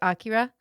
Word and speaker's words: Akira: So it is technically, you can say Akira because that's like the Western version, but I guess the technical pronunciation is Akira. Akira. Yep. It's like it's an AH at the beginning.